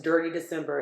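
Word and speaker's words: Detty December: It's it's spelled D T Y. Um, but it's dirty December.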